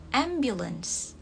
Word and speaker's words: ambulance: Jadi kalau dalam Indonesia kan ambulans, cuma untuk Inggrisnya itu A-nya dibaca agak E. Jadi ambulance. Ambulance.